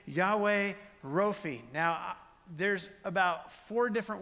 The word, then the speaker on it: Rophe: And so I'm used to saying Rophe. You could say Rafe. You could say Rophe. You could say Rapha. There's a lot of different pronunciations of this particular Hebrew word.